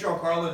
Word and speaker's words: GianCarlo: My name is GianCarlo. It's spelled like this, okay? Well, some of you guys were thinking J-O-H-N, right? It's Carlos, right? I heard that. Or Gina. Who's Gina Carlo here?